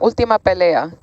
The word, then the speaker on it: Ultima Pelea: By the way, am I pronouncing that correctly, Andy? You had it right the first time. Ultima Pelea.